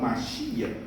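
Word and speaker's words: מָשִׁיחַ: Portanto, no hebraico, quando eu me refiro a Messias, eu falo Mashiach.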